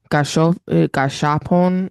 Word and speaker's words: gashapon: Gashapon I kiosk think you in said the it, Japan.